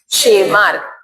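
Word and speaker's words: Tschermak: एंड द वॉन शेमार्क T silent है क्या है वॉन शेमार्क scientist name three scientist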